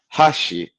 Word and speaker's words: hashi: but like for example, you have Hashi versus hash and hash. You have those are three tones for hi. Each one of those are three different words.